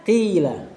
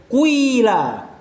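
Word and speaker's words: قيل: Enggak enak, orang Arab tuh enggak suka ngucapin kasroh sebelumnya dhammah. Jadi dia bacanya qila. Sebagian cara baca yang lain kuila. Cuma enggak terlalu kuat.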